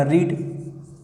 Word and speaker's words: read: Spelling same होती है, बट जो उच्चारण होता है चेंज होता है। इसको हम रीड पढ़ते हैं, इसको रेड रेड पढ़ लेते हैं।